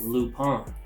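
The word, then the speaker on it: Lupin: and the last family one we have is lupone lupone or shane lupone okay and you spell that l-u-p-i-n okay so this is the french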